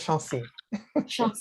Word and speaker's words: Chancy: the of the surname you're doing very well it's it is chansey i thank you because